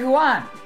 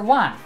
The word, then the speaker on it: Huan: Huan. Dr. Wan. Yeah, it'd be Wan. Wong. Yeah, because there's no G.